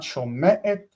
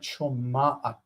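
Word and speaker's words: שומעת: So not shome'et, but shoma'at. Shoma'at. This is the segulate structure. It's segulate structure, and the ayin in the middle of the structure here will influence the sound in front of it and its own sound to become ah.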